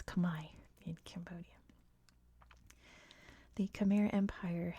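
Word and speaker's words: Khmer: the C Empire CH which is not how it's pronounced in Cambodia by the way that's how it's pronounced in English I think it's Kamai in Cambodia the cham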